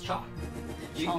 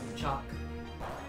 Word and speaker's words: chalk: chop chalk chop it's chalk we take out the l chalk it's chalk i don't pronounce the l i said was it